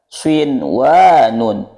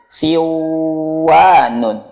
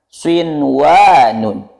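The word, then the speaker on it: صنوان: Di sini kita temukan nun sukun bertemu waw yang mana harus dibaca dengung. Tetapi di kata ini kita harus membacanya dengan idhar atau jelas. Tidak boleh dibaca seperti ini. Siwanun. Tetapi dibaca dengan swinwanun.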